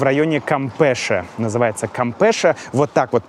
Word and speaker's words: Campeche: Называется Кампеша. Вот так вот пишется это слово.